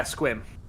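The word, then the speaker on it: Sequim: Yeah, Squim. Yep. You pronounced it correctly.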